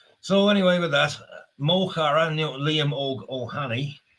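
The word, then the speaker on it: Liam Óg Ó hAnnaidh: So anyway, with that, Moar Liam Og Ohani or Liam Hannah as the Brits call him because they can't pronounce Irish names and they have no interest in the Irish language.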